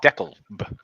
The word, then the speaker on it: DeKalb: I live in Deca DeKalb County as you spell it but it's the cab I think if your English it's deckled they they have this aversion to the letter L in the South it seems right Donnie